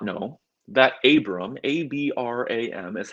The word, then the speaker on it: Abram: Remember, God said to Abram that not only will the world be blessed